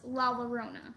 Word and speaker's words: La Llorona: love this go ahead first of all it's la la rona la la rona okay good and second of